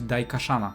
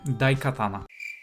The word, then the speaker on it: Daikatana: ion Storm którego pierwszym wielkim hitem miała być daik shana Sorry za wadę wymowy daikatana gra Miała wyjść w roku 1997 Ale ciągłe